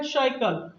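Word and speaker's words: cycle: अगर सी के जस्ट बाद आई ई वाई मिल जाए तो इसका प्रोनाउंसिएशन हम क्या करेंगे, सा। और अगर इसके बाद एनी लेटर हो जाए तो क्या करेंगे, इसका प्रोनाउंसिएशन क्या करेंगे, हम का करेंगे। अब देखिए एक एग्जांपल लिखते हैं, सी वाई सी एल, ये क्या लिखा है, साइकिल।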